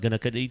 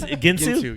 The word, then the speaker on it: Guintu: your last name man I used to always pronounce it like Gan like what that I know there's like less letters but I mean G it's ginu yeah the U [